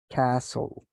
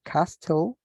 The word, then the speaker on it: castle: Castle. So let's pay attention to the pronunciation because we don't say castle, we say castle, which means this castillo.